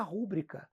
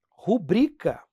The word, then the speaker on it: rubrica: Ah, quero fazer minha rúbrica. O cara vai olhar para você assim, foi concurso de quê? Não caía português, não? Então, ó, rubrica. Pessoal da área médica vai enlouquecer, ó.